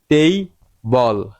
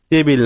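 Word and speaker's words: table: যেমন টেই বল টেইবল টেবিল না টেইব। আপনি যদি সিলেবল সম্পর্কে ধারণা রাখেন আপনার উচ্চারণ প্রায় আমেরিকানদের মত হবে।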